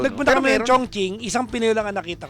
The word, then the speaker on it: Chongqing: Chongqing, isang Pinoy lang ang nakita ko.